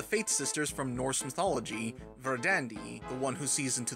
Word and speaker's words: Verdandi: Bell Dandy is because Japan has no proper pronunciation for the V sound in Verdandi's name, so as an alternative, they use the B sound along with a few other changes to allow for the name Bell Dandy to be pronounced in the same manner as Verdandi.